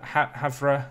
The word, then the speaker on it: Havre: end up just butchering I thought I'd have havre is how it's meant to be said I know there's too